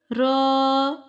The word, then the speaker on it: ر: Ra, ra, ra. Ra has full sound. Do not pronounce it with thin sound while pronouncing raised tongue toward the palate.